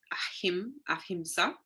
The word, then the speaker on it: ahimsa: So ahimsa, pronounced ahimsa, is an ancient Indian principle of non-violence which applies to all living things.